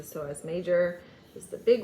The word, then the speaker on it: psoas: the psoas muscle here it is spelled psoas this is the soaz major this is the